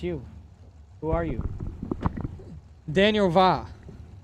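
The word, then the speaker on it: Via: Daniel Va. Spell the last name, though. It is spelled V-I-A.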